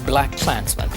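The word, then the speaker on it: BlacKkKlansman: movies title is simply black clansmen meaning that the extra K is silent anyhow how has a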